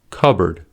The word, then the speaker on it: cupboard: Secondly, the P is silent in the following words: core, coup, cupboard, raspberry, receipt, pseudonym, psalm.